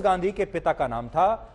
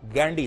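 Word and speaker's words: Gandhy: नाम था फिरोज गांधी फिरोज गांधी नहीं था गंदी था और यह जो नाम है इसकी स्पेलिंग होती है जी ए एन दी ह ए और ये जो गंदी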